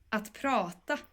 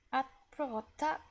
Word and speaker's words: att prata: melody kind of Swedish, I would say it like this. Att prata. Att prata. Can you say that? Att prata. Very good. So att is going to be a little bit shorter, and prata is going to be the longer part.